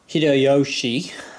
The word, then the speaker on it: Hitoyoshi: been saying this whole video pronouncing the um name wrong uh so uh because it is um H Yoshi um but whatever um apologies for that in